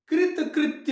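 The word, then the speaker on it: कृतकृत्य: कृत कृत्य हो गए, कृत्य कृत्य नहीं।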